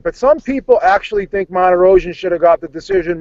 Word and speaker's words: Martirosyan: You know all those other names, but you can't pronounce Martirosyan.